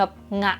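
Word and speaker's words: が: มา ใส่ ประโยค ปุ๊บ ให้ ออก เสียง เป็น แบบ งะ ดี กว่า ลง เสียง ต่ำ อ่ะ โอช เงะ เงี้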